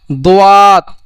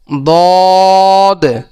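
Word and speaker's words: ض: অনেকে এই সদ দতকে বলে সোয়াদ, দোয়াত, এটা বলা যাবে না। এর উচ্চারণ হলো সদ, দদ।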